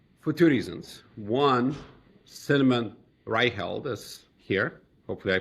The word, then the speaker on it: Reiheld: One, Cinnamon Ryeld is here. Hopefully I pronounce it close closer this time.